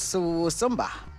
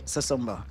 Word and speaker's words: Susumba: And since the name of the restaurant is Susumba, I will start with that Maybe they pronounce it different as Susumba. Susumba. But it is, we say Susumba.